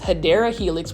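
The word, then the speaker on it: Hedera helix: you already know this hadera Helix which is the correct way to say it or English ivy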